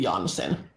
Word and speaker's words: Jansen: or if I pronounce the last name as Finns would do, it would be Jansen.